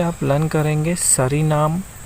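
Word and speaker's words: Suriname: और जो ये कंट्री है इसका नाम है सूरीनाम। इसको इस तरीके से प्रोनाउंस करते हैं।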